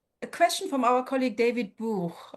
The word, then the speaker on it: Buch: A question from our colleague David Buch, who I pronounce in the German way because it's another book that I feel very close to.